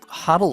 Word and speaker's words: hodl: and it's felt weird but that's how you pronounce it huddle and that means like hold on to the